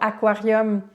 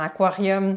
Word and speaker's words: aquarium: La même chose pour le mot aquarium. On pourrait tenter de penser qu'il y a un petit i dans aquarium, mais aquarium, hein, c'est pas aquarium, c'est aquarium.